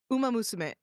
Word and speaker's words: Uma Musume: How do I pronounce that? Uma Musume? Uma Musume.